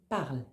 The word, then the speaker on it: parles: parles avec ES S attention on ne prononce pas le S on dit bien tu parles il elle ou on